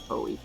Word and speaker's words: Foie: So we already talked about how Foe techniques, or Foie techniques, however you want to pronounce it. I pronounce it Foe.